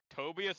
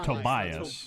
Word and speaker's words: Tobias: that's always remember BOS tobius has always been good with money could vote for something that pisses to off first off you guys are all pronouncing his name wrong it's Tobias Tobias and second his own